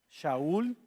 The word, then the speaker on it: Shaul: Entonces llegamos al apóstol Pablo, que originalmente su nombre era hebreo y se pronuncia, por cierto, Shaul.